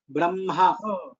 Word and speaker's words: Brahma: And for Brahma, first ha and then la. Sorry, ma. For Brahma. Am I correct? No, sir, you are incorrect. For Brahma, it is ma first and then ha next. Brahma.